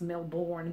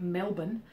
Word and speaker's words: Melbourne: that people know about Melbourne which is not pronounced Melbourne but Melbourne um Melbourne and Sydney and Melbourne's kind of